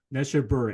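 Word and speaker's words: Neshabur: Neshaber, Incident in Neshaber, which is one of my favorite tunes.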